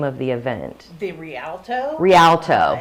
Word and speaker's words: Rialto: The Rialto.